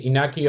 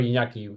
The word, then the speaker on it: Iñaki: Yeah, I can say Inaki or Iñaki. Both are okay.